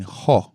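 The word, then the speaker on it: ὁ: haven't noticed is that I'm actually saying ho when I came when I when I'm when I'm when I'm repeating this word right here. This word right here, I'm saying ho with a h o. Because there is what is known as a rough breathing mark over it.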